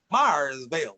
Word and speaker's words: Mayersville: them and you know in europe an a a long a sound sounded like an eye like uh i would imagine i would be might and so mayorsville became fire meyersville like the people so